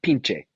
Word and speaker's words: pinche: that up you know pinch is pronounced pinche pinche sorry I'm I'm such a